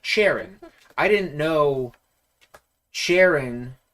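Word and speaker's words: Cheren: like many Pokemon names uh like I like Sharon I didn't know Sharon spelled c-h-e-r-e-n was pronounced Sharon until I heard it pronounced in the anime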